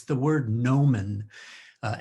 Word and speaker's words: gnomon: before i wrote this poem it's the word nomen uh it's spelled g-n-o-m-o-n nomen and you all know what a sundial is